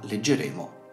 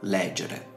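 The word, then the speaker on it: legere: Nel caso in cui la penultima sillaba abbia una vocale breve, l'accento retrocederà alla sillaba precedente e quindi in questo caso leggere e non leggere.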